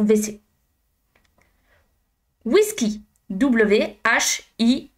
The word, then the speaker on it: WC: wagon wagon wagon WC Alors ça s'écrit WC mais en français on a tendance à dire VC.